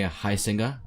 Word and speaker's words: Huizenga: You got Bill Huizenga, or you could say Heisinga. I think that's more of a better pronunciation.